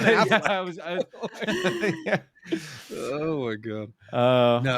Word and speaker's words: Affleck: Like, no, it's not Ben Emphasis. It's Ben Affleck.